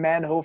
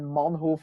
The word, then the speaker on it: Manhoef: mean America is if people so many people always say bas Rutten you know and Melvin Manhoef it's Melvin Manhoef boss Rosen you know